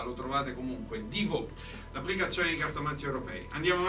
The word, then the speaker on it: Divo: Ecco, è come quello, il famoso, l'attore famoso Divo. Il Divo, ecco, no, però con l'accento sulla O, ma quello poco importa, lo trovate comunque. Divo, l'applicazione di cartomanti europei.